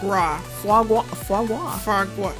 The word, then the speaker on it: foie gras: Foie gras.